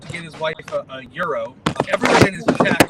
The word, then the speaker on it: gyro: flexi pants was like no it's gyro like Gyros scope I'm like no it's Euro like Euro the currency like well kind of